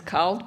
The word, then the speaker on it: CALD: When it comes to cultural linguistically diverse, and I do pronounce it as cald because it means warm in Italian, because I can't hear the difference to this day between cald and cold.